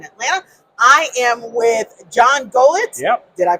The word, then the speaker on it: Golicz: I am with John Golicz. Yep. Did I pronounce that You right?